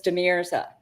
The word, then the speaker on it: De Mirza: It is De Mirza.